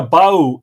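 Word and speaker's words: Bauch: Erica Bow says, howdy from Cibolo in Texas, between San Antonio and Austin. My last name is pronounced here in Texas as Bow, like Bow Wow.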